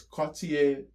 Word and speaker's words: Cartier: So, Cartier, let me give you the actual technical uh I don't know if it's annunciation or pronunciation of the word. Whichever one it's Cartier Chao, that's how you properly.